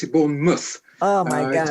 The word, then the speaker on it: Bournemouth: pronounce pronounce correctly born mouth yeah because it's born mouth you pronounce it born mouth oh my God it's very strange I know